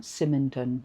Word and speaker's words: Symington: Symington, that's it.